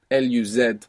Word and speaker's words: luz: And the word luz, L-U-Z, so actually this Z would be pronounced th in most of Spain, luz.